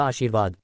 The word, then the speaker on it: आशीर्वाद: आशीर्वाद में र वाद से पहले बोला जाएगा आशीर्वाद।